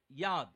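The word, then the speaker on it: י: I would not pronounce it Yod, but I would pronounce it Yad. ஏன்னா ancient ஹீப்ரூல அது யாத்னு தான் சொல்லுவாங்க. In the ancient Hebrew it is Yad.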